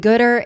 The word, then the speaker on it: Goodr: And Goodter is I'm going to say this wrong.